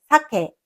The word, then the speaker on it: 酒: signifie « alcool » se prononce avec un aigu à l'arrière.